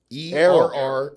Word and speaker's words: Errol: ERROL. Errol. Errol, yeah. Without the H.